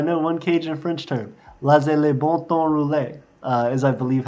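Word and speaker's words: laissez les bons temps rouler: one Cajun French term, laissez les bon temps rouler, is I believe how you say it. It is, let the good times roll. Laissez les bon temps rouler. Yep, that's how you say it.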